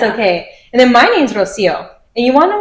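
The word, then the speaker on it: Rocío: Not everyone can say Rosio, but I'll always pronounce it as Rosio. And I'll even tell people like if you can't roll the Rs, that's okay.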